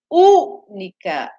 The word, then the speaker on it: única: A única. Única. É uma palavra o quê, ó? Única, três sílabas. U. A U, antepenúltima sílaba, ela é mais forte, que é o U.